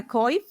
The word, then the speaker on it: coif: But then it just suggested adding a coif. I think that's how you say it. Yes, coif.